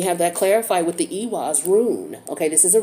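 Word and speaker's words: Eihwaz: that clarified with the ewoz roon okay this is a roon r-u-n-e and this rune is ewas it's e-i-h-w-a-z or it's pronounced a-was okay so this tree represents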